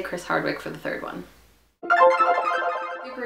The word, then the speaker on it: Chris Hardwick: get this awesome but Chris Hardwick because he Chris Hardwick that's how you say his name because he